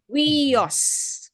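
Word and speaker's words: υἱός: and Iota very good so pronounce together um it is we pronounced as we in sweet okay we and sweet here we have here three vowels however this is only two syllables okay weos weos it means son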